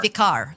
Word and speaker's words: Wikar: Oh, so it's Wikar or yeah, Vikar? Vikar. That's how you say it.